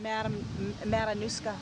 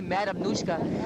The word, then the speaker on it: Matanuska: It's from, how do you say it, Irene? Matanuska. She say Madam Nushka. It's, say it again, Irene, properly. Matanuska.